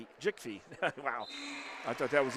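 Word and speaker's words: Djikfee: Well, the D is silent, so it's just Jickfee.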